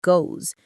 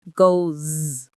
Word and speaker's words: goes: It's not go, it's goes. Let's try it slowly. Go. Goes. Can you hear the difference? It's a small change, but it makes a huge difference in how natural you sound. This happens with many verbs in the third person. He sees, she plays, it runs, they all have that buzzing Z sound.